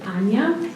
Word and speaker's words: Anja: Uh, my name is Ana. It's Anna. So, it's spelled with a J, but you can imagine a Y there and then you'll know how to pronounce my name.